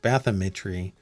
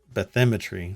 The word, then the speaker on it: bathymetry: i think it's pronounced bathymetry because i don't think it's bathymetry i think it's bathymetry bathymetry of more than 1.4 million